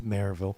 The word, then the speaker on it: Maryville: No, it's Maryville.